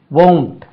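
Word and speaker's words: won't: டி பாருங்க இதுக்கும் அதுக்கும் லாஜிக்கே இல்லை வில்லின்ட் சொல்லணும் வோன்ட் உச்சரிப்பு பாருங்க வோன்ட் he will come he வோன்ட் come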